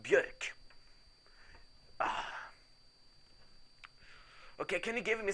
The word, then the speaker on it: Björk: It's pronounced Björk.